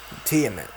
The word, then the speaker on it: Tiamat: there she is ladies and gentlemen titanic tiamet teammate okay that's how you say it this video